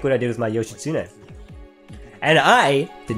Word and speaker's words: Yoshitsune: Like what I did with my Yoshitsune. And I did not get that pronunciation wrong because I'm Japanese.